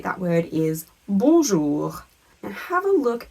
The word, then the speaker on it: bonjour: In the word bonjour, you might notice that you didn't hear the N in the middle, and in fact that little letter group ON makes the sound un.